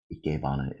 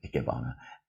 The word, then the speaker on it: Ikebana: Ikebana is how it's pronounced, with my American accent, Ikebana.